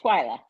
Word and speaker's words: Twila: poof wow it's gonna be a night anyway Twilight is that how you say your name yes Twilight okay I didn't want to say it wrong